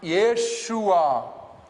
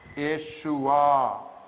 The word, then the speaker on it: Yeshua: the term Jesus, rather Hebrew has got its own way of pronouncing certain nouns. And Yeshua, yeah, with the yod, then with the 2 dots, you know, it is a, ye. Shu with the shin, and again with wow, a dot inside.